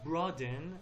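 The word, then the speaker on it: broaden: فقط برادن لطفاً تلفظش رو دقت کنید، به خاطر این براد صفت en انتهاش اضافه کردیم، en فعلساز که در حقیقت شده برادن.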